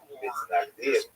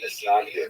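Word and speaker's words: Mitnagdim: He is the acknowledged head of the movement known as the Mitznagdim, or the Mitznagdim, as it's Ashkenazi pronunciation.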